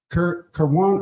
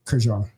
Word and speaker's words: Kerwan: First, Keithan Foster, and then after that, and brother, just in real time, is it Kerwan or Kerjan? You said it right the first time.